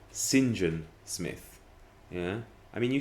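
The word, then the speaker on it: St John: often mispronounced is um when you have saint john and you have it all together people still say so and so is i don't know reginald saint john smith but you know we wouldn't say that in english it's reginald sinjan smith yeah i mean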